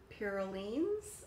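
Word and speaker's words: Piroulines: I picked up two of the Pirulines, I believe is how it's pronounced, and they have them in a few different flavors.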